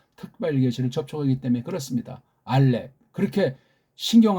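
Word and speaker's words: אָלֶף: 서양 발음 알레프. 우리 발음 알렙. 피읍 발음할 때 알렙하고 부드럽게 입을 닫는 것이 아니라 알렙. 세게 입을 아래 위를 딱 닫아야 이 피읍 받침이 나잖아요. 알렙하게 되면 바람이 빠져요.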